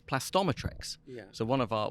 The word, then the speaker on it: Plastometrex: right and so uh Christopher over here was plasto metrics it is plastometric right it's not all right